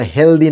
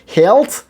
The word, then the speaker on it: healthy: Actually এটা হেলদি নয়, ভুল উচ্চারণ। কখনো কোনো ইংলিশম্যান বলবে না হেলদি, সকলে বলে হেলথ এবং হেলথি।